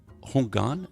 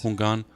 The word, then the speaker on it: Hungan: You were ordained as a Hungan. Am I pronouncing that right? Yes. Hungan, a voodoo priest at 17.